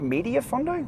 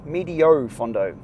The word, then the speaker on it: medio fondo: had the media fondo media fondo medio fondo is how that's pronounced and I've grabbed the